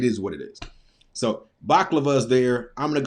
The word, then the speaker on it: baklava: I also know it has 3 syllables.